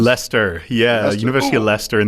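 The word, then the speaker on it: Leicester: from the University of Lchester. Is that how it's pronounced? Lester.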